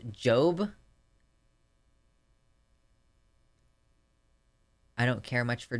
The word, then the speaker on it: Job: The Old Testament book Job is pronounced Job.